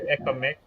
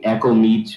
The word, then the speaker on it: ecomic: the match for you ecomic first of all i pronouncing your name properly yeah yeah i know you're actually one only people to get it right uh typically people say echo meat or some other stuff